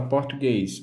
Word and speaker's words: português: A palavra português, a sua última sílaba, ela é a mais forte, então é a palavra oxítona.